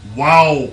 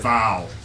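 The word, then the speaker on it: Vav: Wow means what? Wow. Wow. It's actually pronounced wow, not really? vow.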